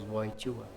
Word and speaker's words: Wojtyła: II, ele, e a família deles, né, os Wojtyła, é a pronúncia, Wojtyła.